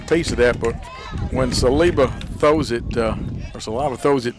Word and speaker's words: Saliba: She said it's pronounced Saliba.